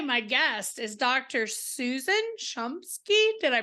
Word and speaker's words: Shumsky: and today my guest is Dr Susan chumsky did I pronounce that right you sure did yay she